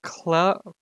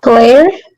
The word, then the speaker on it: Clara: It's pronounced Clara? Clara. Cool. Clara. I Doctor like Who that. companion. I don't watch Doctor Who. Claire? Not good.